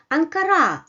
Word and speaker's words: Ankara: So it comes in an unstressed position, while in the second position it comes with a small bar which indicates the stressed syllable and the stressed vowel, which is a bit longer than the unstressed one.